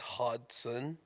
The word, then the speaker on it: Hodgson: Real quick, I just want to point out it's Hodgson. Hodgson? Hodgson. There's no G. The G is silent.